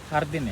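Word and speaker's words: jardín: Hardin ya? Hardin bacanya hardin.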